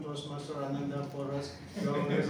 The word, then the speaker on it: Ananda: So it really took me a big challenge whenever I explain my name, pronunciation, Anand or Ananda.